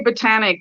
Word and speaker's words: Botanique: is the word pronounced well we call it here we say botanic because i just think um the the sort of more um you know french pronunciation or or what we'll say poshy pronunciation never really took off here it was um probably the australian way of just um the way it said it so we're just stuck with it it's fine it can